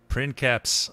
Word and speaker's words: princeps: Princeps. Oh, great on my nose, Sean Bean. Don't mispronounce. There's no soft C in classical Latin.